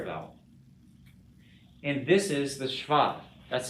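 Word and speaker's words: shva: biblical hebrew biblical hebrew it's pronounced schwa and in english actually i think we say schwa in in linguistics and when it applies to english but in hebrew it's called the schwa okay um and he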